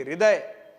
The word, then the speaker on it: हृदय: जैसे आपने इसको हस्व बोल दिया वैसे इसको आप हृदय बोलेंगे क्या? नहीं बोल पाएंगे। क्यों? क्योंकि यहां तो आप ठीक ठाक उच्चारण करेंगे हृदय।